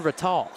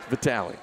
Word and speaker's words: Vitali: I need to know if it's Vitali or Vatal. Vitali. Vitali. I've been saying it right as Uli puts up the quick three.